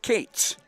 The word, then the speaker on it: Koetz: facing junior right-hander Owen Cates, Koetz. Swing and a miss, strike 1. Koetz is how it's spelled. Cates is how it's pronounced, like Nick Nolte's character in 48 Hours.